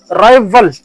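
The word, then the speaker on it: rival: राइवल ये इस तरह प्रोनाउंस होता है जैसे कि बी है वी।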